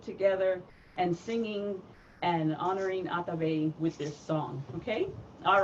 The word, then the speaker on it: Atabe: And in Taino, Atabe is how you say Mother Earth. So say it with me, Atabe.